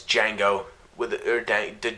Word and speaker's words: Django: it all right its Django with a third day did django django oh wait the D is silent yeah right the dear